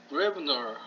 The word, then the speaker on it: Gräbner: 그래서 이 O, 이 두 개의 발음이 왜라고 읽는 걸 알아두면은 도움이 될 때가 많습니다.